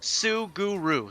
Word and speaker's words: Suguru: It is in fact Suguru.